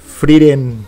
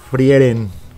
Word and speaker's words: Frieren: está en crunchy roll Ahí está fren así es como se pronuncia no frieren eh Y pues eso